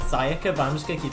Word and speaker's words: Sayaka: how long either she was also apparently it's pronounced sayaka but i'm just gonna keep saying this they